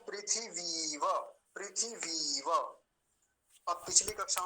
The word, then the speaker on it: पृथिवी: दीर्घ इ का है पृथिवी और व और लगा दिया तो क्या बना पृथिवी व पृथ्वी व ऐसा बोलेंगे पृथ्वी नहीं कहेंगे पृथ्वी उच्चारण गलत है क्योंकि ये सबसे पहले